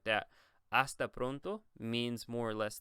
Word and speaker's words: hasta: We're going to go over it separately, but the first thing is the H, once again, is silent, so you just say hasta.